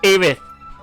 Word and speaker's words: Aerith: Aerith in Final Fantasy VII. Her name is pronounced as such. Aerith.